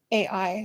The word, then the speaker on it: Ai: up the gates of it so the lord was with joshua and his fame was noised throughout all the country israel is defeated by the people of i ai is how it's spelled joshua complains to the